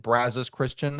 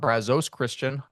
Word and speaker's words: Brazos Christian: Ryan schroer um thankfully you now know to pronounce it Brazos Christian and not Brazos chrisan uh your thoughts on